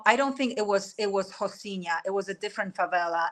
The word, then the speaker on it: Rocinha: So it even says like Rocinha. You know, they pronounce R as H. That's why I'm saying Rocinha.